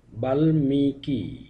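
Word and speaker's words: বাল্মীকি: যদি ম ফলা যুক্ত থাকে সেক্ষেত্রেও ম এর উচ্চারণ স্বাভাবিক থাকে যেমন গুলম গুলমো বালমিকি শালমলি প্রতিটি ক্ষেত্রে ল এর সঙ্গে ম ফালা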